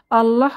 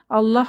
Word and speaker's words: আল্লাহ: হরফটি একটি পাতলা হরফ তবে আল্লাহ শব্দটির ক্ষেত্রে লামের উচ্চারণ কিছুটা ব্যতিক্রম আল্লাহ শব্দের লামকে কখনো মোটা করে পড়তে হয় কখনো পাতলা করে পড়তে